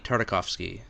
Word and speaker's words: Tartakovsky: of me do you know how to actually pronounce it so I'm not butchering it gindi Tartakovsky tartakovsky now what is that a I'm gonna